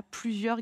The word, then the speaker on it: plusieurs: Peut-être ici, attention au son IEUR, I-E-U. Et attention ici, à la fin du mot, il y a un S et je ne l'entends pas.